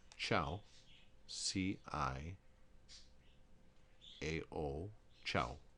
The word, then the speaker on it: ciao: see I a Oh ciao you'll notice how to CH sound there missy is directly followed by an eye ciao if you have